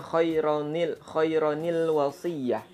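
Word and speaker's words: خَيْرًا الْوَصِيَّةُ: Jadi ini tapi dibacanya khairanil wasiyah seperti itu ya.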